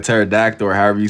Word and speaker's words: pterodactyl: Like pterodactyl or however you spell it. I know what you said. The P is solid. The P and pterodactyl.